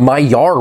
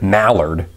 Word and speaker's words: Maillard: Well, it's all because of our topic for today, the Maillard reaction. Not Maillard or Maillard or, God forbid, Mallard.